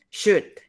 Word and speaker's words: should: Should. También con should. Se escribe should, pero se pronuncia should.